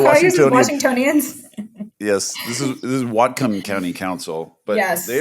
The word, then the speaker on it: Whatcom: Yes, this is Whatcom County Council, but yes. They are quite significant as well. Really excited about Whatcom County.